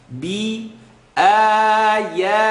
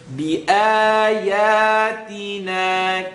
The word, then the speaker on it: بِآيَاتِنَا: You want وَكَذَّبُوا B or be. B. It's a line on the bottom. B ayatina.